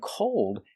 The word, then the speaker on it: cold: a dark L and cold has the long o like no don't go when we connect the